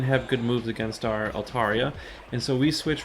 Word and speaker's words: Altaria: so I'm still using my so I'm using alt aria by the way I looked up the definition I looked at the pronunciation cut my handy book here and I